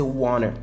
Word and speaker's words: want to: S'il y a un livre que vous voulez lire, if there is a book that you want to read, want to peut se prononcer wanna.